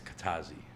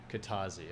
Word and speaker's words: Kajtazi: the J silent? Yeah, it's Kajtazi. Kajtazi.